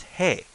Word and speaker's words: へ: he and but the pronunciation for here is hey as say hey as in hey or shame hey hey uh in fact